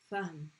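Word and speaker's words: فهم: But when you stop on it, when it has a sukoon, it's going to sound like a deep breath. Remember we did the word ahlan wa sahlan. Ahlan. It's like you're just taking a deep breath into it.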